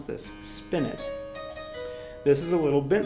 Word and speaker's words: spinet: we're going to play some music from us spin it that's how you pronounce this spin it this is a little bit site spent can